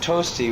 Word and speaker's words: Tosti: If you're going to spell it, you're going to call me Tosti, you spell it like the Italian composer, Tosti. Oh, and there was one, huh?